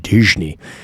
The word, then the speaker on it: Disney: Symphonies ended dis Disney Disney that's how you say it in Portuguese Walt Disney uh